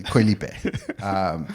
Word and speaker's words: Koh Lipe: Koh Lipe. Koh Lipe. It sounds like Dua Lipe. Or if we're pronouncing it correctly, Koh Lipe.